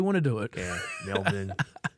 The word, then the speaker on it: Melbourne: to do it yeah Melbourne Americans pronounce it Melbourne melb or Melbourne it's like like like it's a baby being born yeah it's like when Mel is born Mel born yeah Australian M yeah